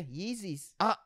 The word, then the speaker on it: Yeezy: rolling up with these new how do you pronounce this easy yeezys yeezy is the first one is it easy yeah not easy yeah yeezys is that yeezys i thought yzy and this